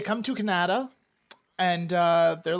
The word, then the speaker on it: Kanata: western side it's called kannada it spelled the phonetically the way the native Canadians would have spelled kanata as their village and it's it's kind